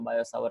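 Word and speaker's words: Biot-Savart: कहने आते थे कि भाई मेरे नाम में जो टी है वो साइलेंट है, मत बोला कर।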